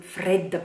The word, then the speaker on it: fredda: So, stress on the first E.